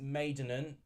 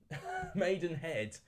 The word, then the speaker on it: Maidenhead: taken the lead against maidenan um maidenan maidenhead that's how you say it Oldham have taken a